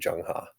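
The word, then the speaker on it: Zheng He: lot of money in was this guy named jungha this is how it's spelled this is how it's pronounced but why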